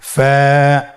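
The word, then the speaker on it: ف: ফা কফ কাফ লাম মিম নুন ওয়াও হা হামজা ইয়া। ফা হরফটি আপনারা স্ক্রিনে দেখতে পাচ্ছেন। ফা হরফটি উচ্চারণের ক্ষেত্রে বারিক হবে এবং এক আলিফ টেনে পড়তে হবে।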